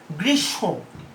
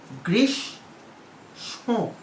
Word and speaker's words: গ্রীষ্ম: অন্তমফলার ক্ষেত্রে দেখো উদাহরণ, অনেকে গ্রীষ্ম উচ্চারণ করে, ভুল উচ্চারণ, কিন্তু এটার উচ্চারণটা কি? গ্রীষ্ম। উচ্চারণটা কি? গ্রীষ্ম। ঠিক আছে? সংযুক্ত ব্যঞ্জনটি সানুনাসিক উচ্চারণ হয় বলেই এখানে ওই যে চন্দ্রবিন্দুর ব্যবহার।